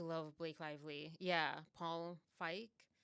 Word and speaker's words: Feig: Lively yeah Paul Fike I'm going to say his name I feel like I have to say that for the next few times for anyone who doesn't understand why I'm saying f that's how the German pronunciation which is he's his name is German or and or like